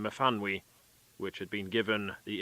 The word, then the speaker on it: Myfanwy: began with a lengthy paragraph about the correct pronunciation of the Welsh name Myfanwy, which had been given the infant Sally as her middle name.